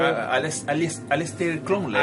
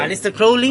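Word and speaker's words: Aleister Crowley: la madam blaski blbl tenemos al mago oscuro alester cromley alester crowley lo pronuncie mal claro El Mago oscuro sea tenemos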